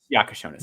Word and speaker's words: Jakucionis: I'm hearing Jakucionis. Jakucionis is correct.